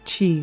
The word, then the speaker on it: Chi: Chi, like energy. Did I say it right? Yes!